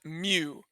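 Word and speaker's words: μ: here is the formula so this guy is pronounced mu so mu sub x equals and now this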